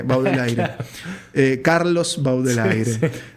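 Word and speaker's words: Baudelaire: Baudelier, digamos, Baudelier pronunci del Aire, Baudel aire.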